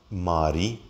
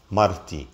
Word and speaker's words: marti: So we would have not Mari, but Marti, my wife.